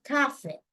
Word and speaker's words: café: Pero en inglés británico, se le suele decir y se escribe como café en español y se pronuncia café. Café.